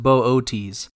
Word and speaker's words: Boötes: to locate the constellation Bootes properly pronounced Bootes otherwise known as the